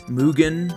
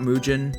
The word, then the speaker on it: MUGEN: told me that it's mugan not muan yes I know the Japanese word for infinite mugan the guy from